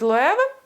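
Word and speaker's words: Loewe: Він теж від Лоеви. Дякую, що навчили мене правильно вимовляти цей бренд.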